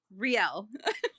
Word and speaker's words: Riel: Riel.